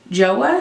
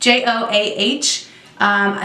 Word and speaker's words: Joah: brand to the drugstore joah I think that's how you say it jo aah so I have a